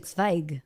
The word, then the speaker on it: Zweig: Well, you know It's actually Zweig.